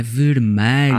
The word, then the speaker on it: vermelho: Mas nós dizemos vermelho. Parece um A, mas é um E.